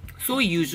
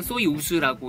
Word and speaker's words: Soyuz: 소이유즈 혹은 소이우즈라고 읽으면 될 것 같아요.